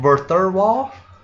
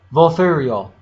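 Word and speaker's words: Vulthuryol: To summon the dragon, you want me to pronounce it? Verthurwall? Volthurial.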